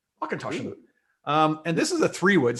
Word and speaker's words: Auchentoshan: Auchentoshan means corner of the field in Gaelic, and you put the accent on the second syllable to speak in Gaelic. Auchentoshan. Auchentoshan.